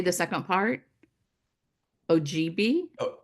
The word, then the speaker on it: Ojibwe: Ojibwe? Ojibwe.